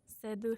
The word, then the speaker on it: Seydoux: And then also, I don't know how to pronounce her name. It's like Leia Organa? Seydoux. Siddu. Seydoux.